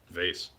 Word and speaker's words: vase: How do you pronounce Vase? Vase.